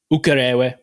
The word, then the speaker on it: Ukerewe: Did I pronounce it correct? Ukerewe.